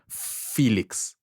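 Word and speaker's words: Phoelix: one it's a song called freeze tag featuring Felix um pronounced I mean spelled p h o e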